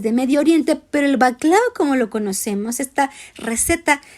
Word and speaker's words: baklava: El número 10, el baklava. Es un postre tradicional turco que muchas familias turcas consumen. Y tenga cuidado, no se dice baklava, no, ni tampoco se dice bacalagua. No, es baklava.